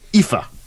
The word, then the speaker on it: IFA: IFA. It's in German. Like I cannot FIFA, pronounce it.